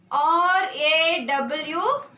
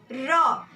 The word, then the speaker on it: RAW: R-A-W. RAW. Here CBI and FIR can't be pronounced like this, but here we can pronounce this R-A-W as RAW.